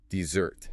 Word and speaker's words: dessert: But for dessert, the sweet cake you eat after dinner, the weight shifts to the very end. Dessert.